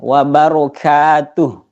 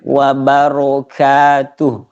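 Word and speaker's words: وبركاته: Jadi rnya yang terakhir itu masih mau tebal sedikit. Wabaro wabarakatuh.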